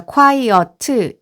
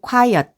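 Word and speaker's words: quiet: 주의 하셔야 될 것이 끝에 오는 이런 소리들을 강하게 발음하지 않고 약하게 발음하는 것이 발음을 잘하는 트리입니다 그래서 콰이어 틀 이렇게 하지 않고 콰이엇 해서 이끄 쏘리 는 조그맣게 얘기를 해주시면 되겠습니다 콰이어트 는 요 조용한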